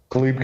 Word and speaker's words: Caleb: Khalib. Khalib. It's spelled like Caleb.